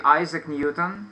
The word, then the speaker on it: Isaac Newton: we say affair and in English we say same word only the accent should be on the first syllable like cafe okay so